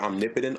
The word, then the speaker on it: Omnipotent: Omnipotent on YouTube. And ooh, I knew I was right. Yeah, it's how it's pronounced. It's omnipotent, like the word.